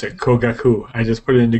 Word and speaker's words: Kogaku: No, that's how you pronounce it. Kogaku. I just put it into Google Translate. Oh, okay. There you go. Kogaku.